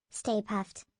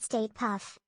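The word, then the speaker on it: Stay Puft: It is pronounced Stay Puffed, not State Puff.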